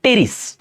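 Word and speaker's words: Pteris: আচ্ছা এখন আস টেরিডোফাইটার মধ্যেই একটা গুরুত্বপূর্ণ উদ্ভিদ হচ্ছে টেরিস। এখানে কিন্তু উচ্চারণ হবে টেরিস। অনেকে পিটাকে উচ্চারণ করো পি হবে না এখানে পি এর উচ্চারণ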